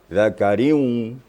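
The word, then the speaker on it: ذكر: Ra baris di bawah. Tanwin bertemu dengan waw. Itu bacanya harus diputar dikit. Zakariu. Riu. Rohnya tetap tipis.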